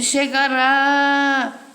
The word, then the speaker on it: chegará: Quando bota o acento, a sílaba tônica fica sendo essa. Ele chegará. É o quê?